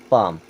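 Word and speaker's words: palm: ए एल एम यहां पे एल हो जाएगा साइलेंट अब इसे क्या पढ़ेंगे पाम क्या पढ़ रहे हैं पाम ए ए एल ए ओ ए अब यहां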